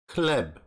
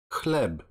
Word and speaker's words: chleb: You should pronounce it as ha, ha, like chleb, chleb.